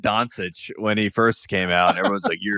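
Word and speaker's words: Dončić: yes right it's not Donuch you guys are all idiots it's like yeah Donuch I said I said Donsich when he first came out and everyone's like, "You're an idiot."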